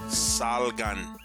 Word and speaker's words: salgan: Remember, the same goes for words ending in N. Salgan.